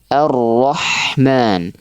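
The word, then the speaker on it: الرَّحْمَٰنِ: Sedangkan huruf ha nafasnya seperti agak tertekan sedikit dan dia lebih terasa ditenggorokan. Ha arrahman arrahman nam seperti itu ya.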